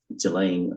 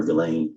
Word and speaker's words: Ghislaine: As best as we know, it's been publicly reported that in 2024, Ghislaine Maxwell, or Ghislaine, I think it's pronounced, arranged and wired $1